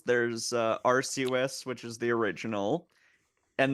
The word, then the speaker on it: Arceus: I thought it was like pronounce it- Arceus. There's technically 2 pronunciations. There's Arceus, which is the original, and then there's the European version, Arceus, Oh. which exists because Arceus starts with Ars.